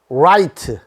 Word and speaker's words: right: havery have have 오른쪽 라이트 라이트 레프트 왼쪽 레프트요 r자와 l자 발음 주의한 거 공부했죠 right는 혀를 말아서 혀를 말아서 우리 얘기를 하십시오 입천장에 닿지 말고 근데 l자는 입천장에다가 혀를 닿으십시오 그래서 앞에다가 얼자를 넣으라